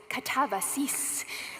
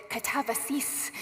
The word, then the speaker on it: katabasis: But then I watched this video where it said in this very artificial sounding voice, katabasis. And that's actually how we say it at home. Bennett always pronounces it katavasis, which is hard to do in casual conversation.